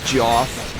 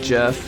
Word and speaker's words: Jeff: I see that name I'm tempted to pronounce it as Joff instead of like jeff which is how it's supposed to be pronounced it just looks like